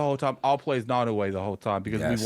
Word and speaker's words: Naoe: Do you know how to pronounce her name? I believe it's Naoe. Naoe.